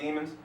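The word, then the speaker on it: daemon: a demon you know in the English way they spell it is D AE m o n but demon right but what the demon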